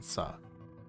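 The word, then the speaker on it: Suh: pronounce as a name it says s-u-h s I'm sure it's uh Justin saw if it was Sue would be s-o-o I'm pretty sure they would show it as Soo 25 years old 165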